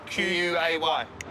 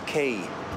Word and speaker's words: Quay: Oh, Q-U-A-Y. That's Quay. It's pronounced Quay, not Quay. The spelling's confusing.